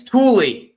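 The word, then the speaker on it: Tooele: Tool. And Tool's even trickier because it's spelled Tuole. And it took me a long time to even come up with how should I pronounce that.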